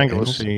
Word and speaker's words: Anglesey: How do you pronounce that? Anglesey, yeah, it's an island northwest Wales where there's an RAF fast jet training base.